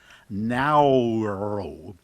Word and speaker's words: Naoero: But, they said that this is um closer to the pronunciation that the natives have. Naoero.